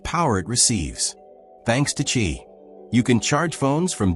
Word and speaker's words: Qi: Most modern wireless chargers use something called the Qi standard, spelled Qi, pronounced Qi.